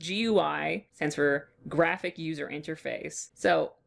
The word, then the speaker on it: GUI: have a GUI offset apparently that's how it's pronounced GUI sensor graphic user interface so this and this